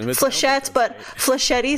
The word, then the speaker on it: flechette: a CH e TT oh it's French like flesh yet yes it looks like flechette flechette e sounds very wrong mr. Sheth but flechette e sounds like machete but